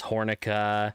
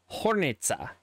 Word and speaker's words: Hornica: these names come from the C is actually pronounced with what I would call just a TS so it's not hornica it's hornitza and Jose Riza if